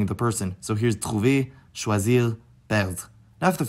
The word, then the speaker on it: trouvent: Notably, one of those is the third person plural form, trouve, which I had thought was pronounced differently until I actually took French class. So yes, this particular conjugation category, including in other tenses, has the ent ending pronounced differently than it would be in any other situation in the language.